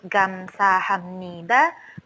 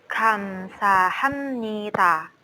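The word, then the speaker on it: 감사합니다: dengan ha antara d&t jadi tidak lurus-lurus gamsahamnida tetapi Kamsahamnida Kamsahamnida Kamsahamnida Nah itu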